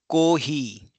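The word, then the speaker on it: コーヒー: So for example coffee coffee will become cohi cohi. So you can see here coffee is cohi. So co o will be co it will be a long o sound that is as is mentioned here.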